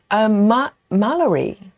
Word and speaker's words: Mallory: It's like Valerie, but with M. Mallory. So welcome.